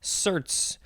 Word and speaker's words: certes: The first word is certes or certs. Certs. Wasn't that a mint from when I was a kid? This one is spelled Certes.